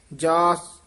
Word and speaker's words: जास: जपत रतन हर मिले स पूरा उच्चारण करना है जास जपत जास यानी फिका जा नहीं रहना चाहिदा ससा पूरा शुद्ध बोलना है जास जपत नखेर के